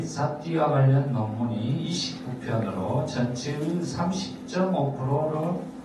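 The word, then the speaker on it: sati: 그럼 이제 두 번째로 사띠의 중요성을 알아보겠습니다. 아주 오랫동안 사띠는 사띠 이렇게 발음하는 게 이제 빨리어예요.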